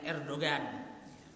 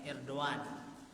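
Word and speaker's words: Erdoğan: Kita bacanya Erdogan, katanya Erdogan.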